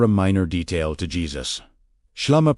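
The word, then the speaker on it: ܫܠܡܐ: Shlama, pronounced shlama, was not chosen by accident.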